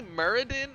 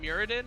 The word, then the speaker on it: Muradin: the elements but imperius apparently muradin is the right way to say it not muradin so i don't know